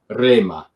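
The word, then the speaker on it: ῥῆμα: and so that would be one example where that rough breathing, the spiritus asper, as it's called, right, at the beginning of words or on ro, that was fading out in the Koine period, right? So you would just say rema and so forth, or retor.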